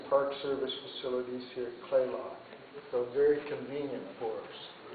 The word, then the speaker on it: Kalaloch: It's actually spelled Kalaloch, K-A-L-A-C-O-H, but it's Clayoch. That's how you really pronounce it. And we'll be staying in Park Service facilities here at Clayoch.